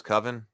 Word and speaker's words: coven: roll of a six Robert says that it rhymes with oven so it's coven good morning John Night